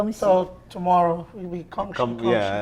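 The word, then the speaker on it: 恭喜: So tomorrow we be gongshi. Yeah, Gongxi, tomorrow we gongxi.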